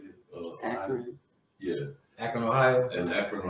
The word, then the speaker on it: Akron: Akron.